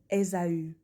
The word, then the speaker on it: Ésaü: On prononce, on prononce Esau comme Ésaü.